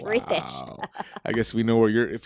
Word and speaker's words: Ritesh: And you know how to So pronounce his name. I just added an H to it. Ritesh. It's Ritesh.